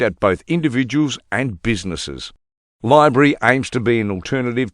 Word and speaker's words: LBRY: Simply put, LBRY, pronounced Library, is a library of digital content.